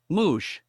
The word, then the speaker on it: mouche: Fly the animal is mouche. Moosh. Yeah, not spelled like that, but pronounced like that.